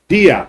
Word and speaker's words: Diop: Teacher, ruler, scholar, Diop or Jop, the way it's pronounced in Senegal, it's Senegalese.